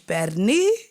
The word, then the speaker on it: pernil: And bitch, perni, and I gotta say it like that because that's how they say it, pernil. But it's perni.